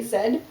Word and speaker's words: Z: but like ruff ruff Americans say ruff and we say roof and they say Z and we say Zed like I went went